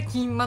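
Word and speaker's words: 蒟醤: なるほらあれだ金まと読むんですよ確かんは面白いだそれあの皆さんキンマと検索して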